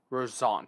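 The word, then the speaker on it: Roussainte: Rosant, that's how you say it.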